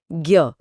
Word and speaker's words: ज्ञ: हाँ, ये बहुत कंफ्यूज करता है क्योंकि उच्चारण ज्ञ जैसा होता है, पर असल में ये ज और न्य का संयोजन है।